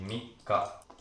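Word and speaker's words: 三日: very confusing this means three days and the pronunciation is going to be Mika okay to count days in Japanese is going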